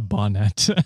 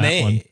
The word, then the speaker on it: bonnet: cover yeah okay a bonnet I'm an idiot you're fine brother we mispronounce things all the time yeah yeah I put I put a little French twang on one Bonet Bon uh it was not